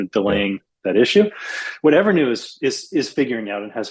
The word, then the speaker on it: EVRNU: I'll give you another example of a company that's called Evernew, which is spelled EVRNU.